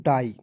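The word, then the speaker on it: die: दोस्तों आई हो जाएगा डी आई ई को पढ़े दोस्तों डाई उसके बाद देखिए एल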